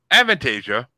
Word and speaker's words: Avantasia: Well, Avantasia And yes, Freddie, that's how it's pronounced because you couldn't pronounce it in my birthday bracket.